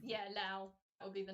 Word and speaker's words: Lao: When it's Lao, is that how you pronounce? Yeah, Lao.